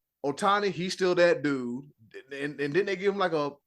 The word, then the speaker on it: Otani: his name I'm G say his name right Otani he still that dude and didn't they give